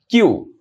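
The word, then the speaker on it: queue: ওকে এইটা তোমাদের প্রোনাউন্স করতে অনেকের দাত ভেঙ্গে যেতে পারে। কিউ কিউ। ওকে আমি আরেকবার বলছি। আচ্ছা কিউ okay this is হাউ you pronounce কিউ স কিউ মানে হচ্ছে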